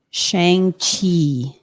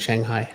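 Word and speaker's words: Shang-Chi: please all right and apparently i pronounced it wrong it's shang chi osha sorry you i swear you said shanghai i think that's what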